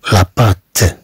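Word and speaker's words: patte: ثم عندنا لاباط لاباط، رغم ان عندنا دوطي كما تلاحظوا لكنها تنطق كالتاء، نتكلم عن لاباط.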